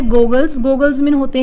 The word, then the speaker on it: Google: अब इसकी स्पेलिंग देखिए GOOGLE, गूगल। अब जो डबल ओ है हमारा हमेशा ऊ की प्रोनाउंसिएशन देता है, इसीलिए इसको हम गूगल बोलते हैं, और जो सिंगल ओ होता है वो हमारा ओ की प्रोनाउंसिएशन देता है।